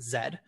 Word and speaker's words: Z: for linguistic reasons that it's written as Z but Americans are forced to pronounce it Zed because that's a part